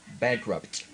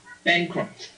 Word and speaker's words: bankrupt: So make that P with your lips and then make the T with your tongue.